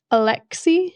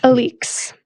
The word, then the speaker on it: Alix: Because Penn Cole gave us a pronunciation guide. We love you. Alix. Not Alex, Alix.